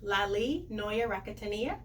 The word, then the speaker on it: Laly Noya Rakotoniaina: Yes, my new name, because I changed it legally, is Laly Noya Rakotoniaina.